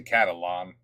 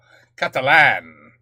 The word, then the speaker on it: Catalan: the Grand Stadium it he say catalon it's catalon Catalan catalon Catalan but now I'm saying it wrong katalan Catalan well it's from kakes is the language Catalan Catalan Catalan is